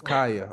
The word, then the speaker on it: Khija: So it's Khija. Khija, yeah. Just pretend the J is a Y. Right. Yeah, okay. Because I would have thought it was Khija, I know.